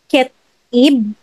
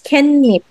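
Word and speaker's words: 깻잎: doon, hindi, ang spelling is ket, ketib, pero pag pronounce mo siya, it's kenip.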